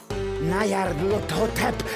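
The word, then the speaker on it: Nyarlathotep: This phrase is pronounced Nyarhot, or more likely, Lut-Hotep. Nyarlut-Hotep, that's it!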